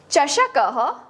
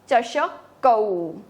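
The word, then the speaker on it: चषकौ: ह चष क ह दिस विल बी च श कौऊ नॉट चश को इट्स औ चष कौऊ यहां पे विसर्ग को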